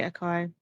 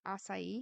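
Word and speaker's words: açaí: local sushi place cranberry aai Cosmo see I love aai you mean asai is that how it's pronounced wait spell it a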